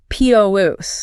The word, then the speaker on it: produce: the lettuce, the noun, the stress is heavily weighted on the first syllable, p r o duce.